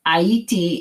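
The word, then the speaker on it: Ayiti: that in some ways aiti is the creole pronunciation for haiti the creole name a-y-i-t-i of course h-a-i-t-is how we say it in english and from dance i'll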